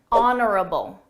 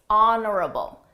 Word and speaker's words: honorable: Honorable. Honorable. Notice that silent H. Honorable.